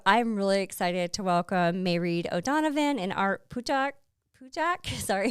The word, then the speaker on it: Mairead: Mairead, do you want to get started? For sure. It's pronounced Mairead.